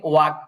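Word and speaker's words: walk: Won't we ওয়াল্ক, এটা এলটা উচ্চারণ আসবে না এখানে, ওয়াক, ওয়াক, ওয়াক।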